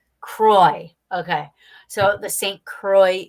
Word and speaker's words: Croix: second word I apologize yeah it's Saint Croix Kroy okay so the Saint